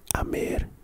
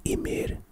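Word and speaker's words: أمير: word it's the um it's Arabic writing basically pronounced Amir and sometimes translated as Emir which refers to a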